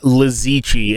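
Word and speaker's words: Li Ziqi: Lizichi, and the chi is like it's QI.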